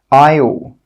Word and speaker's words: aisle: The letter S is normally not pronounced when it's before an L. Some example words are isle, island, isle. In all of these words, we're not pronouncing that S sound. It is a silent letter.